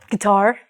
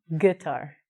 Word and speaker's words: guitar: And in some dialects, that's acceptable, but usually because the U is silent, because of the rule, we say guitar, not guitar.